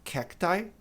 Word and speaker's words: cacti: O plural pode ser tirando o S, acrescentando o I, e a pronúncia é cacti, ou simplesmente acrescentando o S ao singular, cactuses.